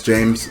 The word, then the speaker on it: Jeymes: It's spelled with a Y. It kind of looks like JEYMES, but I know it's James.